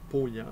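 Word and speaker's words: Paulhan: moi de Jean P on ne prononce pas pa mais Jean pant c'était ce célèbre directeur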